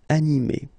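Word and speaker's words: animée: then a feminine form anime okay you don't pronounce this uh but then you should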